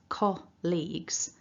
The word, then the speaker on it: colleagues: phonetic script is that our two syllables, colleagues, when you look at it in written form, it looks like this word could perhaps be a lot longer when we pronounce it, but there are only two syllables.